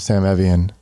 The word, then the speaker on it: Sam Evian: It's not Sam Evian, although I love Sam Evian.